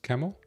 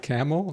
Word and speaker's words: Kemal: It's pronounced Kemal. Oh, Kamal. Oh, you're not like Jimmy Kimmel. Kamal, what's up, my brother Kamal? Not Camel? No, I didn't say camel.